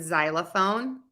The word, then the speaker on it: xylophone: The X in exit and xylophone, two Z's like in buzz, and the SE in because.